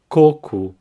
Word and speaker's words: coco: for coconut coir coup now here the emphasis is in the first syllable cuckoo and the o at the end has an ooh sound cool so the full